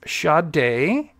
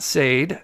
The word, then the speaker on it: Sade: so this is and her name is pronounced shade day not Sade uh shade Robinson and